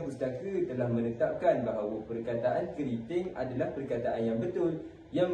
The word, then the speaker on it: keriting: Perkataan N tu sebenarnya tak ada pun dalam ejaan yang betul. Jadi a sebenarnya kita yang salah guna selama ni. Jadi jangan biasakan benda yang salah ya. Ejaan yang betul untuk kerinting adalah k E r i t i n g.